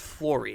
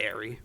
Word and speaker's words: Flory: It's Flory, not Airy.